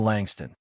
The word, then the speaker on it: Langston: As boarding time approached, a gate agent called his name, mispronouncing it slightly. "Mr. Langstone."